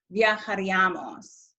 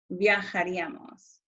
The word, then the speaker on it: viajaríamos: It's not viajaríamos, it's viajaríamos. And it's not viajaríais, it's viajaríais. Where that accent is on that I, that's the syllable that receives the emphasis, viajarían.